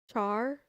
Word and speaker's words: char: Char like Charmander. Yeah, but isn't it short for character? So why do you call it char if it's if it's short for character?